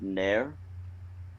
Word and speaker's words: ner: It's actually spelled N-E-R, but it's pronounced like the Nair hair gel or the hair remover.